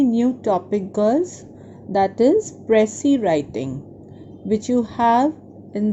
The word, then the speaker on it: précis: and unnecessary in the writing, and it is pronounced as précis, right, girls?